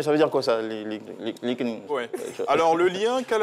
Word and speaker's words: LinkedIn: Alors, selon les environnements, vous aurez des prononciations différentes. Certains diront LinkedIn, d'autres diront LinkedIn, d'autres diront, je ne sais pas, LinkedIn. C'est quoi la bonne prononciation? LinkedIn. LinkedIn.